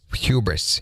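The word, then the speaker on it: Whubris: And I did not mispronounce it there at the beginning. It's wh u b r i s. So hubris.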